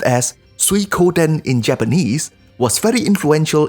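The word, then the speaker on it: 水滸伝: as discussed in the previous episode water margin pronounced as suikoden in Japanese was very influential in the developments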